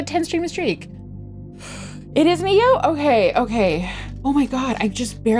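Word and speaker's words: Nioh: You guys told me I pronounced it wrong. It's Neo, right? And Nio speech, she pronounces it Nio as a joke, and I called it Nio originally, but then you guys corrected me and it's actually Neo.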